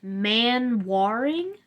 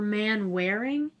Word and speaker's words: Manwaring: Kurt Manwaring or Manwaring. I'm pretty sure it's Manwaring though.